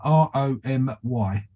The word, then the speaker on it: Romy: John how did you spell her name Romey r-o-m-y r-o-n-y Romy I don't know if that's how you pronounce it but that's how it's written okay